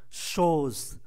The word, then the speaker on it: chose: Il vous faut autre chose, chose, chúng ta phải uốn lưỡi, CH, S nằm giữa hai nguyên âm, ra là Z, ơ cuối không phát âm, chose, shows.